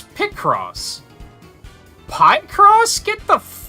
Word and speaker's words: Picross: uh in Pokemon picross pronounced pie cross and I was like it's not pie crop picture crossword it's pick cross pie cross get the